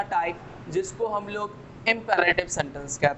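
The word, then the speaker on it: imperative: तो मैं एक चीज़ बता दूं, अगर आर के पहले और बाद दोनों वाउल्स आते हैं तो इस आर की प्रोनाउंसिएशन होती है, और यही कारण है कि हमने यहाँ पे इम्पेरेटिव कहा।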